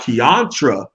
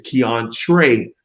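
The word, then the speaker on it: Keontra: jafar rai harvey and it's not kiantra smith is keon trey smith all right i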